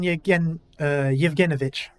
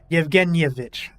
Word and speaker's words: Yevgenyevich: Ivan Yevgenovich. No, there's another syllable there. Yevgenyevich.